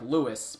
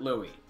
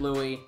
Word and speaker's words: Louis: more or less - most would look like Louis but he pronounces it Louie so don't get any crazy ideas people you pronounce it Louie bandai namco Louie said so other than that